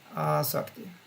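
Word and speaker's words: āsakti: I should get a long A here. Yeah, we have one here. Asakti. Yeah. Otherwise, means something different.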